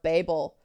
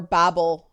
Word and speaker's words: Babel: And I do think that one of the issues in fandom is a sort of Tower of Babel, or Babel, depending on how you pronounce it, that when different people use terms, they don't mean the same thing.